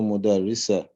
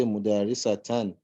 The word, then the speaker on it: مدرسة: But for the one that has a ta, usually we don't pronounce the last ta. So if you say Sakunu Mudarisa, because you didn't pronounce